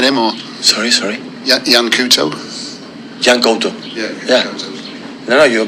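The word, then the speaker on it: Yan Couto: Jan Couto. Yeah. No, you pronounce really good.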